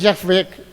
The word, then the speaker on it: Yahvé: traducciones dicen Jehová, pero realmente el término correcto es Yahvé, ese es el término correcto en hebreo, y realmente a veces